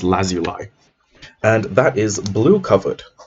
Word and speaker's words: lazuli: Because fun fact, it's apparently pronounced lazuli.